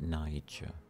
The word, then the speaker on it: Niger: got Niger who uh I'm not pronouncing that the way it's been malformed by the Americans g e are I know how they pronounce it and I disagree I call it Niger they use it in